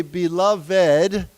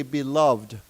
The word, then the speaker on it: beloved: Now this word actually can be pronounced in two different ways. You you heard me say it. You can say beloved or you can simply say beloved.